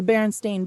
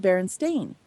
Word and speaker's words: Berenstain: But when it comes to things like the Berenstain Bears, as they are now, and the Berenstain